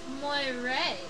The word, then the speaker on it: moiré: Pronounced moiré.